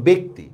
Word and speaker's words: ব্যক্তি: যেমন দেখেন ব্যক্তি, জফলার পরে দেখেন রস্যই আছে এই জন্য ব্যক্তি।